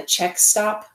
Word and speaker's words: Czech Stop: where there's a place called the Czech Stop, but it's spelled like CZECH.